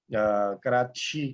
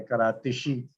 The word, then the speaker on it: کراچی: اب وہ کراچی کو کراچی بولتے ہیں، کراتشی.